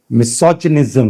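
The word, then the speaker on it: misogyny: मिसोजनिस्ट बोलिए मिसोजनिस्ट बोलिए मिसोजेनिक बोलिए मिसोजनिज्म क्योंकि जी के बाद वाई ग नहीं ज का प्रोनंसिएशन देगा मिसथ्रोप एंथ्रोपोस का मतलब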